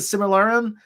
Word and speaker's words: Silmarillion: I mean, I never read the Silmarillion. That's how you pronounce it.